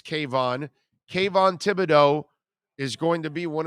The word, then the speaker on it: Kayvon Thibodeaux: k von thibodeau i think is how it's pronounced right i think it's kayvon kayvon thibodeaux is going to be one of the top